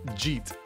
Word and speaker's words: jeet: reading these guys um Jeet j-e-e-t and it's short for did you eat I I say this